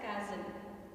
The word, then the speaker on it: castle: In this word, T is a silent letter, so we have to pronounce it as castle.